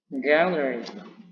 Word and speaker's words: gallery: Cara bacanya yakni gallery. Nah, jadi ditekan di awal ya setelah simbol primary stressing.